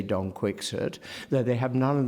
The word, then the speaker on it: Quixote: of the fact that in Cervantes' time it would not have been pronounced as though you were in range of a spittoon. It would have been much, much closer to the French Quixote.